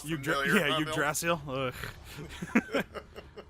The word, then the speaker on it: Yggdrasil: That name sounds familiar, yeah, huh, Yggdrasil. Bill? It's a Tales of Symphonia joke. Yeah. The character Yggdrasil. Nice. Yggdrasil. It's pronounced Yggdrasil.